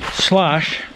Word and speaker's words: Schloss: i'm not german but slosh i might be mispronouncing it is the german word for castle and the reason is